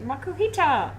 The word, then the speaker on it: Makuhita: Makuhita. Is that how you pronounce it? I Yep. never knew. Makuhita! It's phonetic. Phonetic.